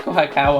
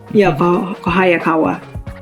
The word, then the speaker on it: Kohayakawa: It was like Kohakawa or something like that. Kohayakawa. Kohayakawa, right? Yeah.